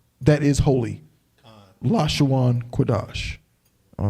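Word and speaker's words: קדש: get that crap there the real word is la shawan la shawan quidash which means tongue holy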